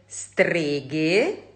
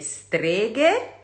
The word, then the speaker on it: streghe: En realidad es muy sencillo, probablemente muchos de ustedes ya lo saben, se pronuncia como ghe-ghi en español.